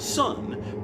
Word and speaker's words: Sunn: Not the Earth that was proto-Black Sabbath, but the Olympia, Washington-based Earth founded in 1989, and Sunn, whose name is indeed pronounced Sunn, but which is spelled Sunn O parentheses parentheses parentheses.